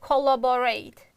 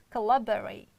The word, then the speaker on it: collaborate: too short oh our next one again most students pronounce like collaborate it's wrong you can't pronounce it like collaborate it's collaborate collaborate you see collaborate love is strong sound therefore we can't reduce it and rate also strong sound but other two we can reduce collaborate okay this is